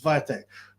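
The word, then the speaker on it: Świątek: pronounce her name phonetically It should read Swire Tech it's viatek but I think it's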